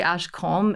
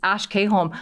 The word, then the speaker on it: Ash K Holm: I think so many people say Ash Holm, but hey, if you want to come correct, it's Ash K Holm.